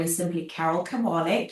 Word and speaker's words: Kabaale: So everywhere on the internet, my name is simply Carol Kabal. carol like Christmas carol and cabal is spelled like k a b a a a l e.